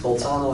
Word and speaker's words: Bolzano: This is how I'm taught to pronounce them, at least. Bolzano and Weierstrass.